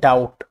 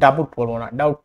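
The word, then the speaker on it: doubt: তারপর হচ্ছে ডাউট, ডাউট আমরা কিন্তু ডাবট বলবো না, এটা হচ্ছে ডাউট।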